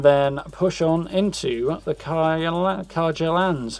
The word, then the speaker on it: Carja: And then push on into the Carja lands. I keep wanting to pronounce it as a soft J. But apparently they don't in the game, so...